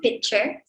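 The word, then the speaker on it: PitcHR: So pronunciation itu pitcher.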